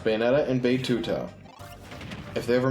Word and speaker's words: Bayonetta: we have Bay although that one's pronounced bayetta and bouta if they